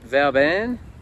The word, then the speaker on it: Vauban: We've got Vauban, that's how you say it, $26 each way, and one Smooth Operator, $15 each way.